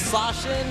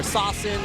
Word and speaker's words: Sasin: This is Sashin, or Sasin, if you guys want to pronounce it just the way that it looks.